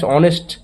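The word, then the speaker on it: honest: তো বললাম আর mister mister Sen is dash অনেস্ট ম্যান এটাকে অনেস্ট হবে উচ্চারণটা কিন্তু অনেস্ট হচ্ছে অনেস্ট হচ্ছে না এর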